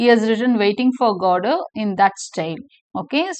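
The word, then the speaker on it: Godot: Waiting for கோடோ, இது pronounce பண்ணுறது டி வந்து சைலண்ட்.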